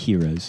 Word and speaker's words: gyros: gyros or heroes in It's America. pronounced heroes.